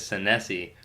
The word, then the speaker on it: Senesi: sensei but my my last name is san se which is an Italian last night I think it's actually pronounced is what sometimes Italians tell